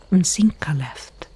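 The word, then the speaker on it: Mzinchaleft: It was him who found me dying outside that Dwemer ruin, Msinkaleft. Yes, that is how you pronounce it.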